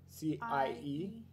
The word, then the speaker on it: cie: So C-I-E? is cie. Yeah, it rhymes with nie. Cie, nie.